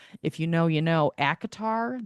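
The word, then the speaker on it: ACOTAR: you know you know acatar that's how you say it.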